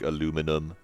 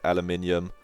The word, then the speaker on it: aluminium: aluminum are fine, but I do think aluminum is seems marginally less correct, because you're just kind of, if you say aluminum instead of aluminium, then I'm sorry, that's just not how it's spelled.